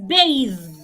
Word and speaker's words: bathe: it's smoothie the Smoothie another word is bathe it's not bath bade is pronounced bade is spelled b a d e but b a t h e is bathe bathe one more word